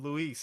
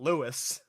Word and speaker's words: Luis: also appreciate that uh Leon actually pronounces his name correctly in this game oh yeah it's not he he calls him Louise everything every single time not Lewis yeah um yeah I